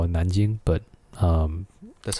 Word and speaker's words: Nanjing: A lot of stuff that happened in Mandarin, we call it Nanjing, but that's how you say it. Nanjing. Yeah, Nanking is like the old way of pronouncing.